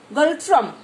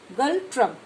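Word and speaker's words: Ngultrum: Second picture is Galtrum and is silent here. Galtrum. Okay. Galtrum is currency of Bhutan.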